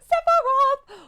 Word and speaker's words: Sephiroth: Like, man, Sephiroth, I'm there. You gotta say it right. Sephiroth!